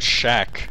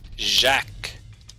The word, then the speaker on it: Jacques: Oh, I heard Shaq, like Shaquille O'Neal. Nope. Jacques. Didn't we pronounce it Jacques?